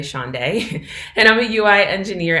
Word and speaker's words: Shaundai: I'm Shaundai, pronounced like a day of the week, Friday, Saturday, Shaundai, and I'm a UI engineer at SalesLoft, a software company headquartered in Atlanta, Georgia.